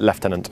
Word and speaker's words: Lieutenant: spelled the same way it's spelled the same but in the UK we pronounce it leftenant Roger awesome and uh